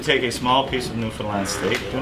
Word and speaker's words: Newfoundland: is a newfoundlander now ernest pronounced newfoundland not newfoundland or new finland this evening in prague